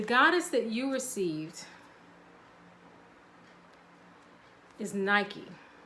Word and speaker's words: Nike: that you received is Nike I'm assuming it's pronounced like the shoe because I know that's where the shoe company got their name from but she represents ambition